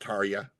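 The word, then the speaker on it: Tarja: Tari. T A R T A R J A. A lot of people say Tar, but it's actually pronounced Tia.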